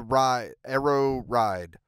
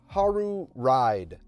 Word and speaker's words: Haru Ride: I know I know I pronounced it wrong it's okay well we can get through this but yeah uh yeah so let's get to it okay a Haru ride uh actually the Creator